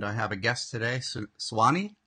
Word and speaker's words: Nsuani: have a guest today, Swani. Is that how you say it, Swani? Nsuani. Nsuani. You do say the in. Okay. My wife was like, it's Swani. And I'm like, I think it's Nsuani.